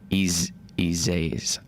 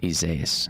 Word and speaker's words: Isaias: If you're wondering exactly how Isaias is pronounced, it's Isaias. Yeah, Isaias. That's how you say Isaias.